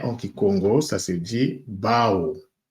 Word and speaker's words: bau: en français mais en kikongo ça se dit Bao B a u qui se prononce donc ba alors euh lorsque nous prenons